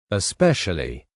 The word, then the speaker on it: especially: Especially, especially. These words are also similar and some learners forget the first e in especially when they speak.